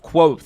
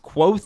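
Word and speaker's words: Kvothe: telling the story of quo a Bard and archinist who became known in his youth as the infamous King killer yes I'm pretty sure it is pronounced quo even though uh this is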